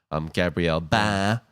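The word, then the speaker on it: Gabriel Bá: and very stylized art from Gabriel Ba. That's how you pronounce his name.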